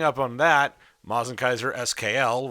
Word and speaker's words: SKL: on that Mazen Kaiser skl which is properly pronounced skull dropped in 2010 what